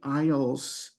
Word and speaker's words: aisles: So when you're in the grocery store, there are many aisles, and I want to point out something special about this word, the way it's spelled, A-I-S-L-E.